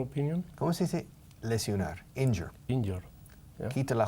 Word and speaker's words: injure: La gente muchas veces pronuncia mal la palabra lesionar, que es en inglés es injure, viene de la misma raíz que injuriar, pero tiene otro significado físico, no figurativo. To injure es quedar lesionado o herido. To injure. Ahora, la gente lo dice mal, dicen in your. Pero in your es in tu.